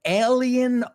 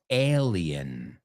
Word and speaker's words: alien: it's not alien, it's alien. Alien. Say it with me. Like ale, como la cerveza ale.